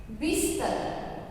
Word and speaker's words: बिस्तर: सबसे पहले देखिए कौन सा शब्द लिखा हुआ है, बिस्तर। बिस्तर में आधा स लिखना है, बिस्तर।